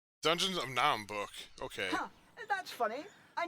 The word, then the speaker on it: Naheulbeuk: Naheulbeuk. Dungeons of Naheulbeuk.